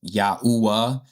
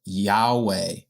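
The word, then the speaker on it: Yahuah: in Yah's name like Yahooa, of course the modern people call it Yahweh, right? But that's not the correct way to say it. It's Yahooa because that u is that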